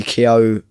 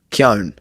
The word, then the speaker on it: Keoghan: So he actually, the actual pronunciation as an Irish person would be Keown. Keown. Keown, yeah. But he, like the GH is silent. Keown.